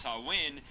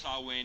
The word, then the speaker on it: Samhain: It's pronounced Samhain because it's not a Christian publication.